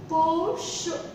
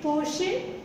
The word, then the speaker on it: Porsche: Porsche. So, next time don't say Porsche. Just pronounce it Porsche.